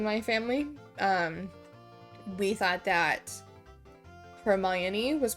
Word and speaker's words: Hermione: was wrong because I kept calling her Hermione. I just thought that the I was silent and it was French or something. My sister was like, no, it's Hermione.